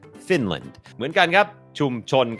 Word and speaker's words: Finland: คอร์ส ฝึก ออก เสียง ฟินแลนด์ อ่าน ว่า Finland Finland โอเค อัน นี้ บ่ง บอก ว่า อ่า จำ ได้ มย อัน นี้ ก็ เน พยางค์ ขึ้น สูง fin พยางค์ ไม่ เน้น land Finland Finland เหมือน กัน ครับ ชุม